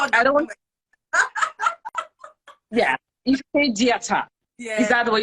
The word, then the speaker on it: Ifediata: I don't want, yeah, Ifediata. Is Yeah. that the way you pronounce it?